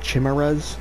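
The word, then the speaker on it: Chimeras: Earth far worse than death itself um it's pronounced chimeres so they simply passed away now once you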